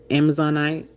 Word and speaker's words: Amazonite: Diamond, onyx, Amazonite, I said it right. Amazonite.